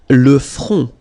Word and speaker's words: le front: Le front. Final T not pronounced. Le front. Okay, remember this nasal on, on.